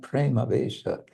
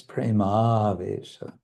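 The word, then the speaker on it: premāveśa: It's not Prema Vesha, it's Prema Vesha. Vesha, long.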